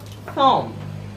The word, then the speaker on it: thumb: It is pronounced as thumb. It's not thumb. I say that when you have the letter combination MB, the B is a silent letter.